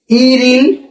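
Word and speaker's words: 일일: হ্যাঁ, এখানে কি উচ্চারণ হবে? ইরিল। এই যে এই রিউলটা উপরে যাবে গিয়া, তাহলে কি হলো ইরিল ইমনিদা। হ্যাঁ, ইমনিদা কিভাবে হলো? বিয়োগ বা শ্রেণীর পর যদি নিয়ম থাকে, তাহলে এই বিয়োগটা মতে উচ্চারণ হয়।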